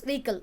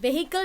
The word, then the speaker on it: vehicle: tallied for a vehicle's vehicle so or not vehicle the pronunciation is vehicle okay so were plantation is vehicle so yeah sledge and